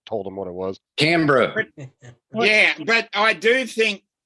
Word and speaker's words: Canberra: How Because- do you pronounce it? It's Because there Brisbane. was. Yeah. Well, yeah. Wow. See, seriously, Canberra. no, honestly, Canberra.